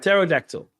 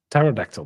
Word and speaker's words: Pterodactyl: I I just struggle with No, the P is silent, right? Pterodactyl. Pterodactyl.